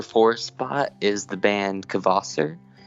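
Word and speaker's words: Kvasir: at the number four spot is the band kvasser how do you spell that k-v-a-s-i-r and i believe i'm saying it right i believe it's kvasser not kvasser um i'll go with that and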